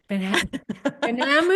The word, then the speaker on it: Benhamou: Benhamou? The H is silent. It's the H. Yeah, It that's always, is. It's it's silent. silent. Yeah. Benhamou.